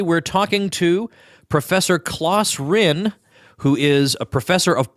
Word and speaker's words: Ryn: His name, by the way, is spelled C-L-A-E-S and then R-Y-N. Professor Rinn, welcome to the show.